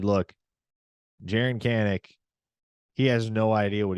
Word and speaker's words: Kanak: But yeah, look, let's talk about Jaren Kanak or Kanak, however you want to pronounce it. It's Kanak, but everybody calls him Kanak.